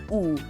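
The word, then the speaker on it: ㅜ: So remember this vowel, it is pronounced oo. But if it's double, that makes it you.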